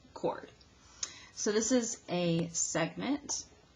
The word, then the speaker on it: chord: and it's spelled like sure'd okay but it's pronounced cord so this is a segment sir my husband's